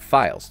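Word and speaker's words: phyles: subdivided into five files the word files is spelled p-h-y-l-e-s it's a Greek word for tribe the Egyptian word is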